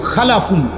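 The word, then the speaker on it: خَلَفٌ: হল খালফুন আরেকটা হল খালাফুন একই শব্দ শুধু উচ্চারণের মধ্যে একটু ভিন্নতা মাঝখানে একটা লাম আছে এই লামটার মধ্যে যদি সাকিন হয় তাইলে হল খালফুন আর যদি লামের মধ্যে জবর হয় তাহলে হল খালাফুন আরবি শব্দ এ খালফুন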